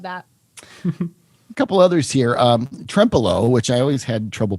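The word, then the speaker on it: Trempealeau: Trempelo, which I always had trouble pronouncing at the beginning, remember? Because I kept wanting to say Trempelo. Trempelo, which is kind of cute.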